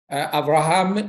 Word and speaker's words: Avraham: Avraham Neguise.